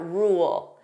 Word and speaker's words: rule: So first, let's take a look at rule. Notice here there are 2 sounds. We have rule, so that dark L, rule, rule. So if I pronounce this fully, you hear those 2 sounds, rule.